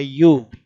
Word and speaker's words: ewe: It is pronounced as a U.